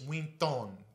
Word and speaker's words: Wynton: name the whole time that's not waitin Kelly it's we thong Kelly Jamaican yeah that a lot